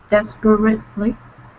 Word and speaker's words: desperately: desperately, is that right? Close. Desperately, Desperately. desperately, Perfect. That E is silent.